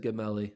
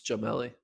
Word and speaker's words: Jamelli: I said his name wrong. I said Gamelli. It's Jamelli.